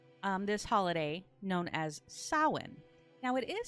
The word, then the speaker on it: Samhain: this holiday known as sauwan now it is spelled s-a-m-h-a-i-n but it's not samhain it's pronounced sawin due to the way that the m and the h go together in their language now this also translates